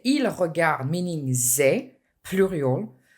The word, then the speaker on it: ils regardent: When you say ils regardent, meaning they, plural, the ENT is silent.